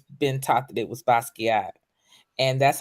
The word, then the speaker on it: Basquiat: a form of French you don't pronounce the T you know or the end so a lot of people say basket but is is basquier thank you I was